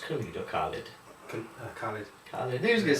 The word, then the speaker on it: Khalid: Is it pronounced KHALID or KHALID? KHALID.